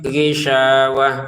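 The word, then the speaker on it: غشاوة: Ghishawatun kita bacanya ghishawah karena berhenti.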